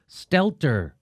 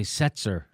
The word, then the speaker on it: Stelter: Bryan Stow that's how you say his name Stelter I would always say Setzer yeah I always think of that to Brian